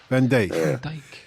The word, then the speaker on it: Van Dijk: So just remind us how should we pronounce. Van Dijk.